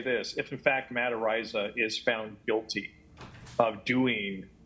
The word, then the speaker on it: Araiza: So Matt Araiza, I don't know how to pronounce his last name. Araiza.